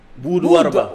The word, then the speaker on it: Boud-Warba: Oui, je crois que c'est comme ça que c'est prononcé, écrit. C'est B-2-U-D. Boud-Warba.